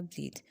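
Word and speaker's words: breathe: verb है आपके पास और इसको प्रोनाउंस करते हैं ब्रीद पहले वाला ब्रेथ और सेकंड वाला ब्रीद जो ब्रेथ है उसका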